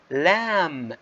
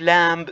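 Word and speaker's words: lamb: لام مش لامب زي ما اخذناها في المدارس في بعض الاحيان، لا بنسميها لام اوكي. لم and num، اذا البي هون silent.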